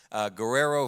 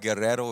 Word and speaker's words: Guerrero: As Keith mentioned, my name is Guerrero. If you want to say it like my wife, Guerrero, if you want to get spicy, and you can get spicy all you want to.